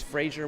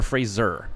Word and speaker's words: Fraser: And so it's Fraser. What's your last name? Is it Fraser or Fraser? Fraser. Fraser. All right. Scottish pronunciation.